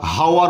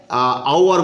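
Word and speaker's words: hour: আওয়ার একই ধরনেরই, আমরা এইচের উচ্চারণ করছি না, এইচের উচ্চারণ হয় সাধারণত, তো আমরা হাওয়ার বলি না, এটাকে আমরা হনেস্ট বলি না, আমরা কি বলি অনেস্ট। তাহলে উচ্চারণের ভিত্তিতে আমরা এটাকে আওয়ার বলবো, সেই কারণে যেহেতু আওয়ার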